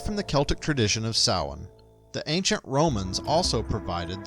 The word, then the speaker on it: Samhain: They were known as Celts, and they celebrated a holiday known as Samhain (pronounced Saw-win. This is the Gaelic word for “November”).